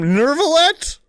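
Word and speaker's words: Neuvillette: That's the sound of what the That's how you pronounce him. Nervallet. There's no R in his name.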